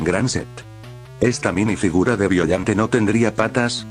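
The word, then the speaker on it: Biollante: Sé que este personaje se pronunciaba violante o violante, pero suena más cómodo decirle así.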